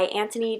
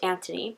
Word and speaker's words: Anthony: Not Anthony Daniels, which is how I pronounced it in one of my other videos, but he specifically pointed out in this book how coming over to America, he thought it was interesting how people pronounced his name as Anthony when over in the UK it would be pronounced Anthony.